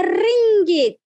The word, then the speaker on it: ringgit: Tenemos la moneda de Malasia, se llama ringgit. ¿Cómo se pronuncia esta palabra? It's not ringgit, but ringgit, ¿vale?